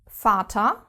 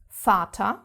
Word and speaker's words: Vater: quite different from English, because we actually pronounce it mostly as an F. F. For example, Vater, which means father, Vater.